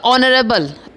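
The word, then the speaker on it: honourable: अगर यही होता ऑनरेबल, एच साइलेंट था बट ऑनरेबल, ओ इज़ a vowel तो उसकी साउंड, ऑरेंज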